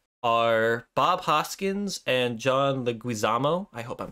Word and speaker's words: Leguizamo: So the main stars of the Super Mario Brothers movie, the Mario Brothers of the Mario family, are Bob Hoskins and John Leguizamo.